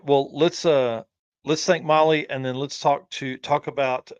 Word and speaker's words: Mahle: And for those listening on the podcast, Molly is spelled Mahle.